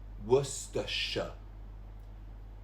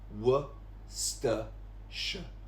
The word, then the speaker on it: Worcestershire: It's actually Worcestershire. Don't even look at the spelling. Just try and remember how to say it. Worcestershire.